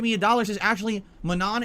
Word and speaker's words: Manon: a dollars is actually Manon is pronounced like mono it's a French name so the last n would be silent is that true is